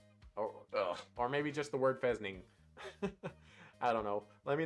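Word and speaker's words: fesnyng: a fesning bes ning spelled f-e-s-n-y-a but it has little uh parenthesis with pronunciation so i know it's pronounced uh pheasant and i was thinking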